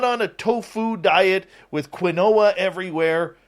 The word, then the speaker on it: quinoa: a tofu diet with quinoa everywhere I know it's pronounced quinoa okay but I prefer quinoa all right I'm putting